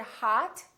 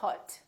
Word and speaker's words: hot: for example the word hot h-o-t we don't say hut we say hat it's pronounced exactly as the ah in the words father or army or watch so the o and